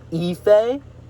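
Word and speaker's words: Aoife: Apparently it's pronounced Ephay.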